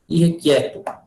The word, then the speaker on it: irrequieto: Irrequieto. Apesar da gente pronunciar, todo mundo pronuncia irrequieto, né? Esse é como I, mas a escrita é com E.